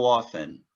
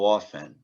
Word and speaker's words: often: Eu sei que tem uma letrinha T aqui, mas a gente vai ignorar ela, tá certo? Na pronúncia é apenas how often? How often?